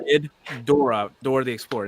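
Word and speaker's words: Ghidorah: G yeah yeah I I always say GID as in get good and uh door as you know door wait no it's g Dora Dora the explor it's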